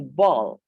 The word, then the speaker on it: ball: Jangan ada yang menyebutnya bal ya. Bal itu berbeda. Ini ball.